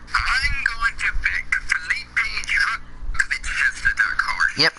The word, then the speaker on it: Drugovich: I'm going to pick Felipe Drugovich as the dark horse. Yep, you pronounced it correctly. Good job. Good boy, Cody. I taught you well. Drugovich.